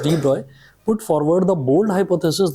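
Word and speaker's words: de Broglie: अब जरा देखिएगा, Louis Victor डी ब्रॉय, pronounced as डी ब्रॉय, put forward the bold hypothesis that material particles in motion should display wave-like properties.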